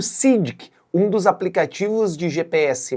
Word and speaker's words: Sygic: O SIDK, só pra gente contar brevemente, é um aplicativo de navegação eslovacco e é assim mesmo que se pronuncia, viu? Sidic, nada de Sidic ou algo do outro tipo.